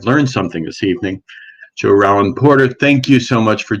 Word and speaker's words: Rollin Porter: roland porter let me make sure i pronounce that correctly from now on i've learned something this evening so roland porter thank you so much for joining us and